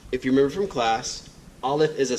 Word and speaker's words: Aleph: So, if Aleph is a silent letter and this sound makes the ah sound, then Aleph makes ah.